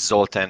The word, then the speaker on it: Zoltan: and uh yeah you spelled my name you pronounced my name correctly so my name is zoltan and i'm the co-founder and co-chair of tech